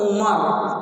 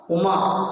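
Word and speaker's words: عمر: Tulisannya yang satu Umar, Ain Mim Ra, Umar.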